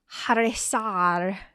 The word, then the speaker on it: Chrysaor: A name that looks like Chrysaor is Harisar with an H. I'm going to pronounce it Chrysaor with a CH.